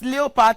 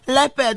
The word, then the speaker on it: leopard: I'm sure a lot of us have been pronouncing this word wrongly as leopard. Sorry, the correct pronunciation of the word is leopard.